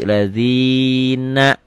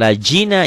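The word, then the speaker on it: الَّذِينَ: Lazina. Siratal lazina. Bukan lajina ya. Zalnya agak sedikit keras.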